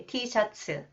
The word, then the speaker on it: T-shirt: We say t-shirts. 3 syllables, not 1 syllable.